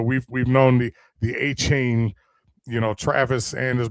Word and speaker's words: Etienne: big ones is Travis Etienne's name is not pronounced Travis Etienne. I don't know if you heard this, but he did an interview. All right. I saw that. His name is pronounced Travis Achain.